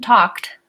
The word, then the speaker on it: talked: no II sound and sometimes like in Darlene's word grasped or in the words walked and talked the IDI actually says the T sound okay so alright so